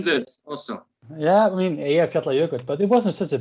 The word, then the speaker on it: Eyjafjallajökull: Yeah, I mean Eyjafjallajökull, but it wasn't such a big deal for us. How pronounced again? Eyjafjallajökull, Island Mountain Glacier.